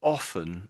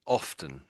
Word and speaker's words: often: most people don't pronounce the T.